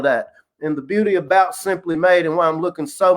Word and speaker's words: S'Hemply Made: this is how it's spelled but it's uh pronounced simply made they have shea butters cbd oils lotions and